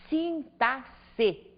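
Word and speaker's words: sintaxe: Pronuncieem sempre como se a palavra fosse escrita com dois s, sintasse.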